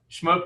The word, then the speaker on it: Shmoop: yeah absolutely absolutely happy to do it yes shmoop is the is the is the the right way to pronounce the company however so many people over the years have called it shmoop which is probably the more a more standard